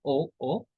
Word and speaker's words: aux: We pronounce this pronunciation is same. O. Same like aujourd'hui, or we pronounce same like AUX.